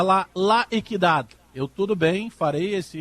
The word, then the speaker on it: La Equidad: Muito me bateram na pronúncia, que é La Equidad.